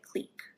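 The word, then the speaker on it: clique: In graph theory, this is usually referred to as a maximal "click," or some people pronounce it "cleek."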